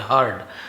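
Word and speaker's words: heard: करते हुए सुना तो हियर का सेकंड हर्ड होता है यर्ड नहीं बोलेंगे हर्ड सब्जेक्ट के बाद वर्ब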